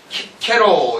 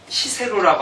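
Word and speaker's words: Cicero: 그 다음에 시를 키케로 이러지 시세로라고 안 한다고요.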